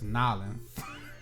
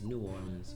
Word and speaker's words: New Orleans: It's y'all say it wrong. It's Nolans. It's New Orleans, but however you feel like you want to pronounce it, that's fine.